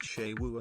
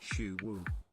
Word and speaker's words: Suwu: How did you feel when you found out Suwu is pronounced Shewu and not Shuwu?